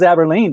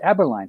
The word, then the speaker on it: Aberlein: daisy aberline no yes aberline yeah you thought it was aberlene didn't you i saw you reading the names yeah no it's aberline so start saying it correctly nina daisy aberline is